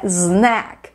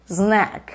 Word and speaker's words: snack: like e se inscreve então a pronúncia é snack snack e claro você não